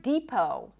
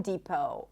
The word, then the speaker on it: depot: And also the word depot. Home Depot, Office Depot, depot. It's a high E and then long O as in go, no T.